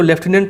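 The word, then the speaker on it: lieutenant: फिर लेफ्टिनेंट, इसको लेफ्टिनेंट pronounce करते हैं, ठीक है।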